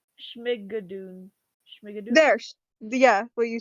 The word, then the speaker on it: Schmigadoon: Shimagund? It's a Schmigadoon. Schmigadoon? There. Yeah, what you said. Yeah. This, but is being turned into a Broadway musical. Schmigadoon.